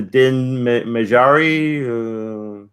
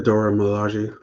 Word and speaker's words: Dora Milaje: Baron Zemo getting captured by Bucky by can't pronounce her name. I forgot their the Din Majari. Somebody help me out here. Majari. The Dora Milaje.